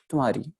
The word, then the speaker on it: तुम्हारी: जो पहली व्याख्या थी, मम्मे का साउंड थोड़ा सा हाफ हो जाएगा, ठीक है। और साथ में हाहे का हल्का सा निशान यहाँ पर आ जाएगा, हल्का सा बिल्कुल, मतलब कि यहाँ पर क्या उच्चारण होगी, तुम्हारी, ठीक है। बिल्कुल मम्मा जो है साइलेंट हो गया और हल्का सा हाहे का उच्चारण आपको सुनाई दिया होगा, तुम्हारी, ठीक है।